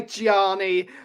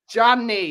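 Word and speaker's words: Gianni: the moment they're like you all pronouncing Janny properly because you all say Giani Janny it's one syllable jany johanny Janny VI it's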